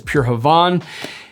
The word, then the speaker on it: Pure Havane: I've heard it pronounced both ways. I think the correct pronunciation is Pure Havane.